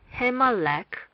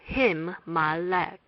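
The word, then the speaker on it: הִמָּלֵךְ: the imperfect form, and we would pronounce the consonant twice when reading the words. Hence, it would be Himmalek. Mem is written twice in the word. It is not Himalek, but Himmalek.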